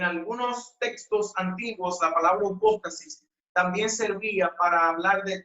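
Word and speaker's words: ὑπόστασις: Si de igual manera descomponemos la certeza en su palabra o raíz griega, nos daremos cuenta que desciende de una palabra que se pronuncia hipóstasis.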